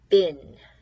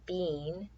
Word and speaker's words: been: Here is bin. Looks like bean, because this is C and this is between, but we pronounce it bin. I have been here all day, or have you been to the store? We pronounce it like this. Looks like it should say bean, but we say bin.